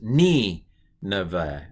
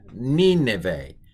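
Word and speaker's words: נִינְוֵה: So this is ni, neve, ni neve, ni neve. The accents on the ni.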